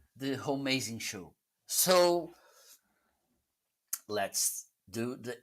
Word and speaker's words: Homeazin: Homie, as in it's pronounced Homeazin.